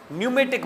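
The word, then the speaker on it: pneumatic: किससे निकला हुआ है यह पी साइलेंट हैसे आपको पता होगा यह इंग्लिश ग्रामर और इस लैंग्वेज की का उसूल है कि अगर पी के बाद कोई वल ना आए तो प साइलेंट हो जाता है बहुत सारे ऐसे साइकोलॉजी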